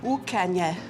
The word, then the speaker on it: Ucanha: So Inish, how do I pronounce the name of this town? Ucanha.